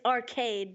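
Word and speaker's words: Archaide: to say you know it's it's arcade but spelt AR CH a IDE so I like that you know yeah I do that's cool so he decides that there cuz arcade is like is is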